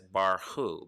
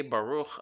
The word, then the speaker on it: Baruch: a starting blessing adonai some of you might pronounce it as bar hoo but it's actually so we usually say baruch all the time like